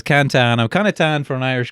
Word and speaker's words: Cantan: Instagram cantan I it's actually pronounced Canton but it's easier to remember it as cantan I'm Canan for an